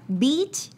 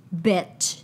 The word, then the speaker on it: beach: Pronúncialo bien. Mira, sí, para que sepas, Beach... Bitch. Muy son bien. Dos sonidos distintos.